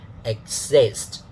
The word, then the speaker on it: exist: So exist, the da, not dada this time.